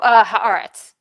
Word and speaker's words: Haaretz: I cannot pronounce this publication. How do you say it? Oh, Haaretz.